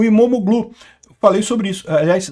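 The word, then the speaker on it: İmamoğlu: A, aliás, o regime do Erdogan prendeu até o prefeito de Istambul, o Imomoglu. Falei sobre isso, aliás, não se pronuncia o G, né? Então, e é Imamolu, eh eh que é o principal opositor do país.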